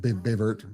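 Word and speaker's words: Baie Verte: How far is that though, Bévert? Does I say it right? Bayvert.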